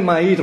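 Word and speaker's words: Mayr: fines del siglo pasado lo pronuncio ma porque es inglés en realidad sudafricano y ustedes saben que el inglés escribe de una manera y se pronuncia de otra Y en este caso es medio feo no dicen que se algo así como mear Bueno entonces Castellano sua muy feo digámosle mair mejor no m a y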